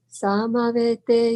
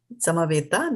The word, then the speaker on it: samaveta: Samaveta, not te, right? So just be mindful of the E and the A. So E is like in they and A is a